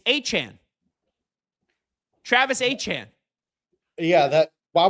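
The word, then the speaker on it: Etienne: And they lost uh Travis ATN, who do you see how you pronounce his name now?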